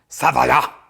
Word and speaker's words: Sauvignon: Sauvignon, Cabernet Sauvignon. And that's how you say it correctly in French. Sauvignon.